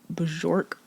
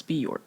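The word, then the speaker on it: Björk: How do you say uh Bajork? I keep saying Bajor, but I feel like that's not right. Okay. So, it's it's Bork.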